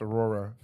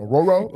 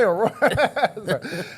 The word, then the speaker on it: Aurora: I got a lot of because one time I pronounced Aurora. Yeah, I went Auroro. You said Auroro.